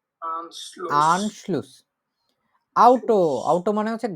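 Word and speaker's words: Anschluss: যেকোনো কিছুর কানেকশনই হচ্ছে আনশ্লুস হতে পারে শব্দটার উচ্চারণ কি আনশ্লুস আনশ্লুস আনশ্লুস আউটো আউটো মানে হচ্ছে গাড়ি ঠিক আছে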